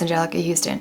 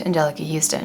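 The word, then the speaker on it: Anjelica Huston: i growing up i thought her name was angelica houston it is in fact angelica houston what tripped me up was the spelling of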